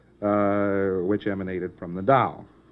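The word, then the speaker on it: Tao: emanated from the dow that's the dow tech king that's t-a-o t-e-h-k-i-n-g you would call it probably normally tau tech king i don't know why they spell it with a t i've never heard it called anything but dao well it must have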